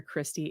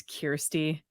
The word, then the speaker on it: Kyrsti: In my second video, I kept calling her Kyrsti. It's Kyrsti.